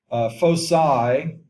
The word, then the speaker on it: foci: We say, well, it's really two ways of saying it. They're both correct. Just depends on how you prefer. Foci is popular, or some people put a hard C and say foci, like F-O-K-I. Doesn't really matter to me how you say it. I've just always been taught that if there's a vowel that follows letter C, then it should be soft C, like face.